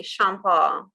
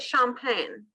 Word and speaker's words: Champagne: I mean, you could say that in the English way if you wanted. Just champagne. It's just. But if you, for me, I would say Comte de Champagne. But that's saying it with a French accent.